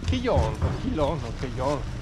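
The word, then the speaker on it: Quellón: Eccoci, primo vero giorno a Keyon, come si dice, scritto quello con l'accento sulla O.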